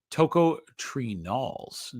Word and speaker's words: tocotrienols: It's tocotrienols.